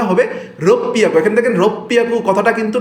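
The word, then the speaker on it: ろっぴゃく: এখানে হচ্ছে আপনার হবে রোপিয়াকু, এখানে রোকু হিয়াকু হওয়ার কথা ছিল, তাই না? 6কে বলা হয় রোকু, বাট আমরা রোকু বলবো না, বলবো এটাকে রোপিয়াকু।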